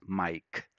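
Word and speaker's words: Maic: And this is the way my name is spelled, M-A-I-C. It sounds as Mike.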